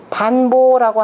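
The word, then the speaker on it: 潘父: 그러니까 지금 고곡당은 점점 강성해지고 소공은 미약해지다가 마침내는 반보라고 하는 사람이 소우를 살해해버립니다. 죽여버려요. 반보라고 하는 거니 지금 이건 춘추 좌전에 지금 나오는 내용인데, 반보, 사람 이름을 읽을 땐 보라고 읽어야죠.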